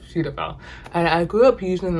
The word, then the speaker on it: Cetaphil: up using um cetaphil i used to pronounce it shutter fill but it's suitable and i grew up